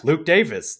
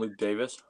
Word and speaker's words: Luke Davies: a man properly so Luke Davies is actually pronounced Luke Davis yeah that's that's actually